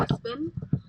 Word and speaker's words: Espin: So sometimes my pronunciation of words is different, but it's definitely Espin.